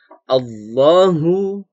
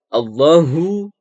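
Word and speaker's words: اللهُ: disini temen-temen perhatikan Allah mengucapkan Allah ini harus tebal pengucapannya allohu Mudin 4 adalah seolah ini terdapat huruf ha ha besar ya jadi letaknya di pangkal tenggorokan gue ya beda sama how how ucapannya harus allohu allohu ya banyak ya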